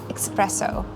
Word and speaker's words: espresso: A lot of people order coffee and say espresso, but actually it's espresso.